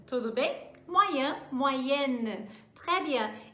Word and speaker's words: moyenne: Eu vou acrescentar um N e um E no final e eu marco isso na pronúncia também.